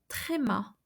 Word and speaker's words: tréma: So tréma.